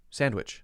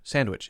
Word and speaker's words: sandwich: i right sandwich no sandwich sandwich it's there it's just very fast if it's because if